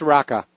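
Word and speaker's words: Raqqa: rattler or a qqa I don't know if that's the right pronunciation it's pronounced raka yeah okay well thank you for taking my call mr.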